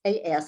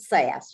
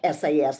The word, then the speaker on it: SAS: SAS is, first of all, it's SAS, and it doesn't stand for anything. You pronounce it SAS. You don't you don't pronounce it like SAS, like IBM.